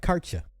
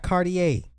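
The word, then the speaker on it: Cartier: I said it right karta it's karta not cardier so if I hear you say cardier you're a commoner only commoners pronounce it cardier it's karta come on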